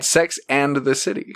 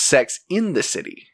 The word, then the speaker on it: Sex and the City: to goldman girls no you said it right okay sex and the city yeah a lot of people think that it's sex in the city oh gotcha sex in